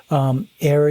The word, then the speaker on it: AIARE: AIRE is another organization that teaches avalanche classes all over the country. It's spelled AIARE.